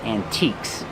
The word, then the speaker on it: antique: They sell antiques. Remember the e is silent. We don't say antique, we say antique.